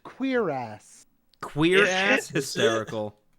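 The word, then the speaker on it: cuirass: my God it's pronounced queer ass queer ass hysterical it is literally pronounced queer ass all right wow well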